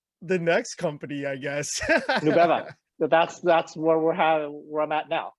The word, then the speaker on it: Nubeva: Yeah, Nubeva, nube in Spanish is cloud. And so I kind of wanted something that was easy to pronounce for immigrants.